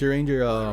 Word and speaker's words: Urianger: It's Urianger, remember when you were fucking, young.